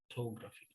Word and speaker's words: photography: photography at college okay where is the stress on that word photography can anyone say the stress in that word photography photography photography photography very good yeah so it's on the t photography okay so that's stress